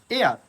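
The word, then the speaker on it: heir: আবার অনেক সময় আছে এইচ যুক্ত কোনো নাউন বা অ্যাডজেক্টিভ যদি থাকে এবং যদি তা সাইলেন্ট থাকে, যেমন honest, honourable, honour, hour, এয়ার, অবশ্যই এখানে এই সাইলেন্ট থাকার কারণে তার আগে আমরা এন ইউজ করব।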